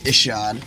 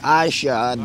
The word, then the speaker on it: Ishod: the correct pronunciation is Ishod okay some people say I shot that worse you're like wait that's not your name though but I go